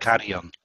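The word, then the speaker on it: Carrión: to pronounce this name, Carrion. And White and Nathaniel Brown. I think there's an accent. Carrion. Carrion, okay. Yeah, it's Spanish actually, Mexican.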